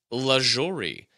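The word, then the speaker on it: Lajoie: Yes, Nap LaJory. N-A-P, Nap, last name L-A-J-O-R-I-E. I might have pronounced LaJory wrong, but Nap LaJory in 1901 batted .426.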